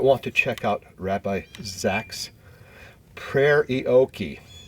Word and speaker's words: Zaks: Rabbi Ahuva Zaks, rhymes with wax, she told me, came